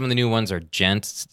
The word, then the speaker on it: djent: the new ones are gent. It's spelled DJENT, and it's Gent metal?